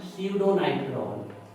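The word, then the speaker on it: pseudonitrol: और इसका नाम है स्यूडोनाइट्रॉल, P साइलेंट है, स्यूडोनाइट्रॉल।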